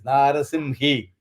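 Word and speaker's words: नारसिंही: Yeah, it is not Gi. It is Narasimhi.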